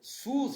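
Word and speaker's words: סוס: Ele colocou sus, gente, se escreve assim, ó, Samer, Vav com Kubutz, né, que é esse pontinho aqui, colocando ele com som de U, e o sigma final, e o Samer depois.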